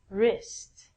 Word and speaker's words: wrist: Pronunciation is the same as this. Again, we don't say the W. And last one, wrist.